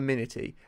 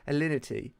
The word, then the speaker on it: Alinity: It's not Aminity. Alinity. What's her name? I think it's Alinity. Alinity.